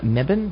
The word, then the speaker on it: Mebane: Okie doke, and next Monday, that's July 20th, we will welcome author Donna Mebane. Is that how it's pronounced?